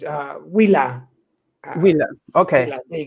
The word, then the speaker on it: Huila: Then, for instance, you could also, which I sell, is Hula. I'm never sure of the pronunciation because I'm not Spanish. It's Huila. So it's Julia, Colombia.